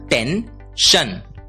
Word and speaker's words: tension: अगला शब्द देखते हैं, शब्द है TENSION। हमने सीखा SION की आवाज होती है शन, TEN की आवाज होती है टेन, इसलिए TENSION का उच्चारण होगा टेंशन, टेंशन।